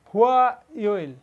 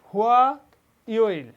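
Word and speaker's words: 화요일: হুয়া ইয়োইল পরবর্তীটা হচ্ছে হুয়া ইয়োইল অর্থ মঙ্গলবার।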